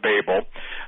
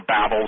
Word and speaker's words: Babel: right back at the Tower of Babel and or Babel some people pronounce it one way some pronounce it the other but the point is is